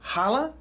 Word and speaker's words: challah: And today, we're going to make some traditional Jewish delicacies, and we're going to start with challah. Challah.